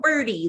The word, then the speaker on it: BIRDe: So BIRDe, you did say it right. It's just like birdie, like a little birdie, except it's missing the I.